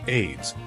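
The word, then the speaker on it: Ayds: On the diet front, AIDS, pronounced AIDS, was a weight loss candy from the 1970s that lingered into the 1980s.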